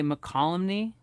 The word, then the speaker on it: Mokelumne: 20th that sounds right mokelumney hill we're meeting up is that how you say that i think they say mccollumny okay we're calling you